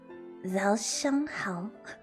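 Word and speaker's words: 早上好: quick pronunciation tip, try to pronounce some of the vowels further back in the mouth. The jahal. Oh, how, how. Zhao Shang Hao.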